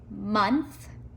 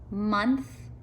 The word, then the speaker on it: months: these three words son months and wonder do they all have in common son months and wonder what do you think they all have a short u sound don't they son hmm under